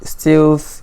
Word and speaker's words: stealth: Olisebuka says stealth is pronounced as health.